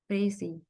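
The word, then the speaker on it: précis: Next, इसको pronounce कैसे करना है? प्रेसी।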